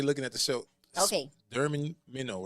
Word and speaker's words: Mignonnes: Spell that slowly. Okay. People been drinking. They looking at the show. Okay. Minnow, right? Mignons.